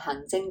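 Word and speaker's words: 行政: example, well, first to say it, it's our hang zeng. I probably don't say that high enough. Hang zeng dai ha. There we go. This means administration. And what I had just said, hang zeng dai ha, is like an administration building.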